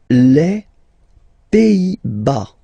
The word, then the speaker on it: Pays-Bas: Les Pays-Bas. Final S here, not pronounced. Same thing here.